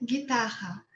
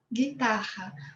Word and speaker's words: guitarra: E a palavra guitarra em português é a guitarra elétrica e se pronuncia guitarra, guitarra, porque as palavras que têm R, doble R em português, têm o sonido de J em espanhol, guitarra.